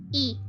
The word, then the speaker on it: y: It's just that in Russian, the and is pronounced the same way in Spanish. E.